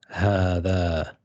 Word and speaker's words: هذا: So without, if the alif wasn't there, we would say هذا هذا, but it's pronounced as هذا.